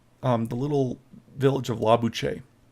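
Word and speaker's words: Lobuche: the little village of la buche so or la bouche or la bouche as uh it can be mispronounced but and then we'll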